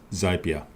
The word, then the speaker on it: Zapier: tools for automation is zapier or as a beer actually it is so as a parrot rhymes with happier zapier is a software